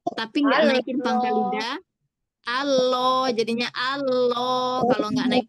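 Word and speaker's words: الله: Nah, jadi Allah yang jadiin dia tebal pangkal lidahnya naik. Coba saya begitu tapi enggak naikin pangkal lidah. Allah jadinya Allah.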